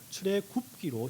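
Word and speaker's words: 출애굽기: 갖다가 음역을 하기 위해서 출애 급기 읽었습니다 그죠 출애 급기 근데 이제 급기 급기 이상하잖아요 우리는 굽기 급기가 이상하니까 출의 급기다는 출의 굽기로 발음하는게 쉬워 보여서 우리 한글 성경에는 출애 굽기로 지금 번안한 것입니다 어 또 그 애굽을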